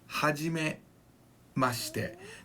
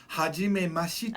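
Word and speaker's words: はじめまして: is going to be hajime mashite. Hajime mashite. Now that she near the end is not pronounced fully. It's kind of compressed up against the te sound. So it's not hajime mashite.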